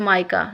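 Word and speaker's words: mica: नदरन, of course it's not whatever, it's माइका, this is हाउ I pronounce it, आई am sorry.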